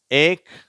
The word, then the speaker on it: ache: பீச் அடுத்த வரிசை much ஏக் stomach இங்க வந்து அந்த ஏக் என்ற வார்த்தை அது மட்டும் இச்ன்னு உச்சரிக்காம க்கு அப்படின்னு உச்சரிக்கப்படுது அடுத்த பக்கத்தை பார்க்கலாம் சி